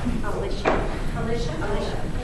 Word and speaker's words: Alicia: So when I asked, how do you pronounce his first name? Alicia.